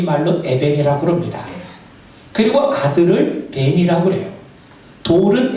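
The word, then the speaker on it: בן: 그리고 아들을 벤이라고 그래요. 돌은 에벤, 아들은 벤이에요. 그렇다면 발음이 비슷하죠. 에벤과 벤, 돌과 이 아들은 히브리 말로는 발음이 비슷해요.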